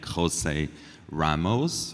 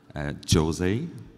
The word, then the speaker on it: José Ramos: It's pronounced in Hispanic José Ramos or Jose.